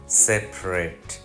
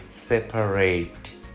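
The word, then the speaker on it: separate: অর্থে শব্দটা dessert dessert adjective হলে শব্দটা সেপারেট সেপারেট যদি ভার্ব হয় তাহলে শব্দটা সেপারেট সেপারেট খুব ছোট কিছু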